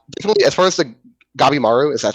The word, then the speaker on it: Gabimaru: I'm, I definitely, as far as the Gabimaru, is that how that dude's name is pronounced? Yeah, it's Kabimaro. Yeah. Gabimaru.